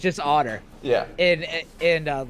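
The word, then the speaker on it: Ótr: one's this oh okay auteur i don't know how to pronounce that versus otter oh it's otter just otter yeah uh a lot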